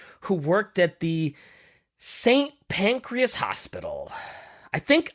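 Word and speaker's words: St Pancras: worked at the Saint pancreas hospital I think I think I'm saying that wrong I think it's supposed to be like saying pancreas but I can't help but say Saint pancreas anyway and according to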